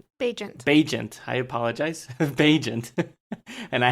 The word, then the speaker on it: Bagent: Bagent. I apologize. Bagent. And I had to look it up before the podcast. How do you say it? But Bagent, right?